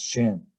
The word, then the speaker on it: sciens: And a lot of times English is pronounced as shen, okay, shen.